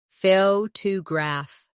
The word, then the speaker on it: photograph: Now, photograph. The stress is on the first syllable, photograph.